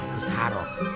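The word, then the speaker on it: Kutaro: couto um what was your name again h kataro kataro Huh right on we did it cataro it's back to normal now that couto and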